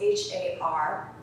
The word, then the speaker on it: Har: Had is h a r and it can be used like har.